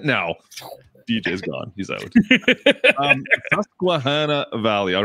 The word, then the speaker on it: Susquehanna Valley: Okay, we need the name, first of all, because I can't pronounce it. Okay. It's Susquehanna Valley. Susquehanna Valley. See, look at this, guys. I can say it now. DJ's gone. He's out. Susquehanna Valley.